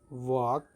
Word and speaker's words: walk: the spelling is w-a-l-k so we don't pronounce the letter l so that's why l